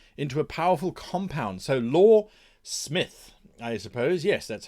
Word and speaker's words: Loresmyth: law and myth into a powerful compound so law Smith I suppose yes that's how we would pronounce it we create quality and fun role-playing